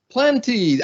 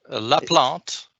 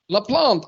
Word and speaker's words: Laplante: is the amazing Martin plenty how do I pronounce your name LaPlante LaPlante of course that's that's the way it should be pronounced it whichever way you